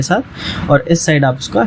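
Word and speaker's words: sept: क्योंकि इसमें जो P आता है, इस P का साउंड हमें नहीं करना है, इसे हमें प्रोनाउंस नहीं करना है। सो it's like सेथ। ठीक है, इट इज़ लाइक सेथ।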